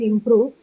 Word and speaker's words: improve: So just like inspire, again in improve, the stress is on the second syllable because both of them are verbs, right?